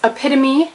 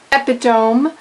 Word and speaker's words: epitome: words to mispronounce um it's epitome not epitome believe me I've made that mistake more than once meme not Mimi halfhazard